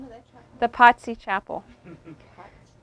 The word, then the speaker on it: Pazzi: The Pazzi Chapel. Spell it. P-A-Z-Z-I, like pizza. Pizza, Pazzi.